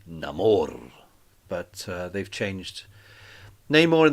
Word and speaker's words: Namor: gave us the first look at neymore uh or as they pronounce it in the film Namor but they've changed Neymar